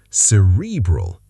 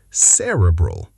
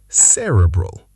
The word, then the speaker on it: cerebral: Cerebral. Correct. Cerebral. Stress on the first syllable. Cerebral.